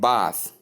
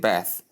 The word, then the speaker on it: bath: Then number two is, in British English they call it bath, but in American English they call it bath.